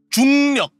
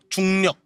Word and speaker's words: 중력: 중력. Sorry? 중력. 중력. 중력 이게 중력. 영어로 하면은 정력으로 불리던데 아니고 중력 중력 야야 중력 중력